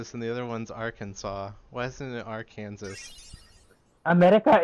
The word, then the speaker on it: Arkansas: Since the S at the end of French is usually silent, we pronounce the state Arkansas.